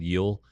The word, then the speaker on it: Gil: Uh, Yel is how it's pronounced. G I L. Yel, Luis Yel.